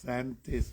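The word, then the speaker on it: Säntis: สวิตเซอร์แลนด์ เค้า เรียก ภู เขา อะไร นะ แซนทิส แซนทิส ค่ะ ชื่อ ก็ คือ อัน นี้ เลย พระ อาจารย์ นั่น โยม ออก เสียง ประเทศ นี้ เลย แซน จ้ แซนทิ แซนทิส นะ อ่า เนี่ย ค่ะ ชื่อ มัน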